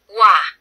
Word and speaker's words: 와: 한국 사람들은 O와 R을 동시에 발음해요. 와, 와, 와. 외국인 분들은 O와, O와, O와 이렇게 읽는 거예요.